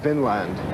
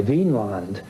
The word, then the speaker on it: Vinland: Now, this has been a controversy in scholarship ever since because people want to, in modern days, see it as V-I-N with an accent on the I, Vinland, meaning land of wine or land of grapevines.